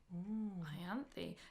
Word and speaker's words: Ianthe: to go first okay a greek name pronounced ianthe ianthi derived from ion violet and